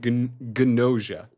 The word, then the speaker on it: Gnosia: Tojima wants to be a Kamen Rider, Wand Dance, and Gnosia. I know it sounds stupid. Watch it. They pronounce the G.